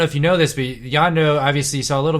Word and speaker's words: Yondu: Is it Yondo or Yondu? Yondo. Okay. I'm saying it right.